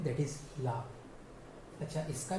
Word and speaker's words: le: The pronunciation is ल. उसका उच्चारण हम ल की तरह करते हैं, ल, है ना. हम थोड़ा सा ल को एक्सटेंड करते हैं, खींचते हैं बोलते वक्त, ल.